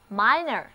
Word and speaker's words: minor: 注意哦，这里的字母 i 的读音不再是短的 e，而是 i 它的本音了， minor， minor。